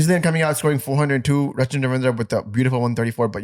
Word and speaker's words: Rachin Ravindra: Rachin Ravindra.